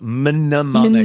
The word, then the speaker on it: mnemonic: Pronounced mnemonic.